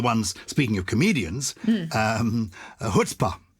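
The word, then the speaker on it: chutzpah: speaking of comedians um hutzpah is a familiar one is wonderful and it's spelt slightly differently i suppose to how you might imagine so it's c-h-u-t-z-p-a-h and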